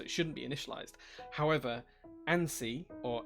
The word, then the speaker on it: ANSI: shouldn't be initialized however ansi or ansi is not a word it's technically an initialism so it should always